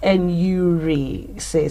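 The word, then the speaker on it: enuresis: to control your human it's pronounced and yuri says and yuri says well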